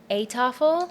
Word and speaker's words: Eettafel: And the correct pronunciation is EETTAFEL.